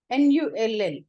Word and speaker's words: null: N-U-L-L, null is the pronunciation, and it is null.